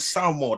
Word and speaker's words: Samoa: from samoa man from spiritual new zealand and samoa that's how you pronounce it wants to take on the bronze